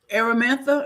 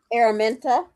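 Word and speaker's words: Araminta: The conversation that Arametha, is that how you say her name? Aramenta.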